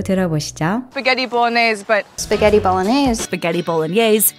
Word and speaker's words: bolognese: Spaghetti bolognese, but spaghetti bolognese, spaghetti bolognese, spaghetti bolognese. 한결 마음이 가벼워지죠. 볼로네즈의 영어식 발음은 bolognese입니다.